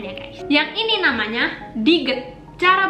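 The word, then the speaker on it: 디귿: Yang ini namanya Diget. Cara bacanya T atau D, T atau D.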